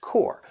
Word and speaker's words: corps: Now, this word was borrowed from French as well as the pronunciation core, which is why you don't hear the P and the S.